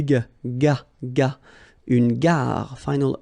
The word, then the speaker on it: gare: Une gare. Okay, remember when you get these G and A together, the sound is g, ga, ga. Une gare. Final not pronounced. Une gare.